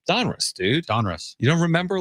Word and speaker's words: Donruss: It's Donruss. Donruss, dude.